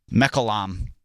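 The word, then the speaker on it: Mechoulam: can't say his name Mech mecam that's how you say it Professor Raphael mecam has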